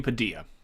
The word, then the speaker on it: Padilla: Not Padilla. It's not like quesadilla. It's quesadilla. Anthony Padilla.